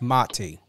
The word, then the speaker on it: Mati: before we went live it's very important to know how to pronunciate and and I get it you know sometimes you don't correct but it's mati yes yes um even